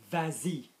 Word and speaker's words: vas-y: pronouns en or I, you would keep the s for the purposes of pronunciation. So for example, if I say go there, vas-y, vas-y.